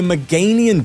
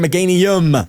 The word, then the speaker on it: Meganium: It is a Meganian deck, Mega Meganian deck. Sorry, Meganium. I see people in the comments saying that I'm pronouncing it wrong. Meganium, not a no.